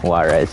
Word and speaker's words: Juarez: um uh Hydra yeah Juarez yet the J is silent that's why it's called